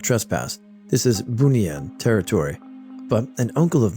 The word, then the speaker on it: Bunian: In Malaysia, we have this mythical species pronounced the Bunian, sort of pronounced like Bunian.